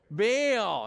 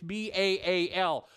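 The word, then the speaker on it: Baal: he was bail yeah you know we're pronouncing that wrong in Hebrew its ba al Bai I'll it was really two syllables they don't have diphthongs those two A's don't make one found two separate syllable same way for this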